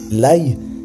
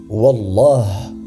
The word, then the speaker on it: Wallah: L'aïe n'est pas un nom d'Allah et il est important de cesser immédiatement le fait de jurer ainsi. La façon correcte de le prononcer est de dire « Wallah » et le mieux